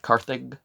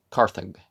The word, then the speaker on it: Carthage: Which means that the G is not said in the Carthage, not Carthage, Carthage. You don't say it as a J.